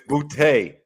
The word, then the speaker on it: Boutte: Miguel, rebuttal, Miguel. As far as that situation, Booty. Yeah, go ahead. Booty. We're talking about Booty. Yeah, Booty. Why are we laughing? Because ain't that boy name? It's Boutte.